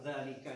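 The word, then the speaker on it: ذٰلِكَ: nggak ada panjangnya tapi bahasa Arab dzalika itu dibaca panjang Jadi kalau pendek terus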